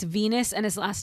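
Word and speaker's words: Venis: Well, the interesting part is that one character Ven whose real name is Venus which rhymes with penis in case anyone didn't know that.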